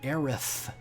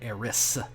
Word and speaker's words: Aerith: her name is actually phonetically it should be aerith with a th um but some reason in Japan when they translate to English they made it Eris and so uh should